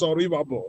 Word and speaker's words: Oribabo: The real pronunciation is Oribabo.